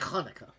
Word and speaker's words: Hanukkah: there and I'm like, have I been pronouncing it wrong the whole time? No, you're good. You actually Well, you have been pronouncing it wrong because you haven't been going into the back of your throat, but uh God